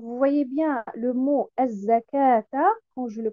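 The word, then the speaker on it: الزكاة: Par exemple, le mot az-zakata. Donc, vous voyez bien le mot az-zakata quand je le prononce. Donc, après harf al-kaf, il devrait y avoir alif al-maddiya. Mais dans l'écriture, nous retrouvons al-waw al-maddiya.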